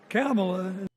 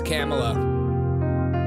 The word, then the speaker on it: Kamala: Ask for their help and then follow our leader, Kamala.